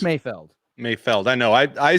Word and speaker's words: Mayfeld: It's Mayfield. It's Mayfeld.